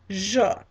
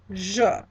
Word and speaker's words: je: All right, so again, first person singular I is je, je.